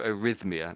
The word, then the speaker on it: arrhythmia: I liked your arrhythmia. That's exactly how it's said. Have you seen this word before, arrhythmia?